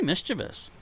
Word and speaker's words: mischievous: How do you pronounce that? There's no I after the V. Mischievous? It must be mischievous.